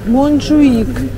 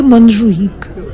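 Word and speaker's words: Montjuïc: вот этот Ман хуи монжуик нет э буква читается как х Ну не знаю называется монжуик вот этот 150 автобус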